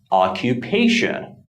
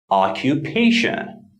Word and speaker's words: occupation: syllable the most but there is a slight emphasis on the first syllable as well but it's not as strong as the third syllable the primary stress so it is occupation occupation here are a few